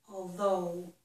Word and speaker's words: although: Actually, the G-H is silent, but all of these letters together make O, although.